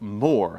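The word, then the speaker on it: Moher: the coast this was the uh Cliffs of Moore I looked up how to pronounce that um thanks to Elaine for sharing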